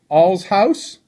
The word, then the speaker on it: Allshouse: say your last name right Mike it's Mike all's house did I say it correctly that's right alright